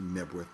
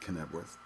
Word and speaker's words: Knebworth: Cano you know um but I believe it's actually nworth not korth um but so they